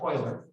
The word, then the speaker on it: Euler: I know it looks like Euler, but it's pronounced Euler.